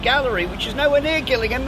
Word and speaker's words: Gillingham: known as Gillingham not Gillingham backhand but this is the spare spelled exactly the same but pronounced Gillingham what this place has